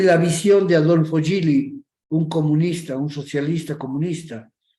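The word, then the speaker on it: Gilly: libro de Adolfo gilli se escribe con g W IL I creo como Guille se pronuncia gilli él su libro se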